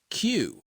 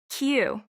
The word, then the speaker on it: queue: You just say the name of the first letter. That's it. It's pronounced Q. Q.